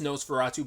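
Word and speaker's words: NOS4A2: It's pronounced Nosferatu, but it's spelled like that because it's based on a book of the same name.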